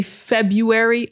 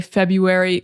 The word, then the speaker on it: February: Now, personally, I say February. I don't pronounce the R.